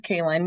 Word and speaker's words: Kayin: introduce yourself yes uh it is kayin you pronounced it right the first time which is a rare